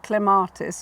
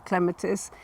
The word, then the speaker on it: clematis: If it's only 2 or 3 syllables, and Clematis or Clematis is 3, then the stress is on the first syllable. So it's clematis as opposed to clematis.